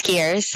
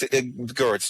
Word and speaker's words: Geers: It's Gears. Hello. Hello. In the Netherlands, you would be pronounced Gertz.